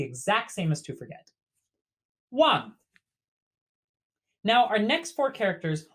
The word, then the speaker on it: 忘: So pronounced very similarly to our base character, but with a falling tone. This character means to forget or to leave behind. Wang.